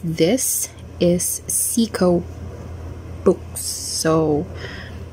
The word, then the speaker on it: CICO: one i asked them how this is really pronounced because i i've been hearing some reviewers like calling it kiko some others say psycho cico now finally um i was told by